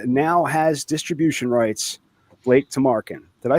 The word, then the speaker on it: Tamarkin: Please welcome the man whose trauma now has distribution rights, Blake Tarin. Did I say that right, Blake? You did. It's pronounced exactly how it's spelled.